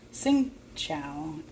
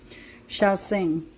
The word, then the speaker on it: Shaoxing: some soy and some sing Chow I believe that's how you pronounce it Shia sing uh wine that's a better pronunciation but if you ever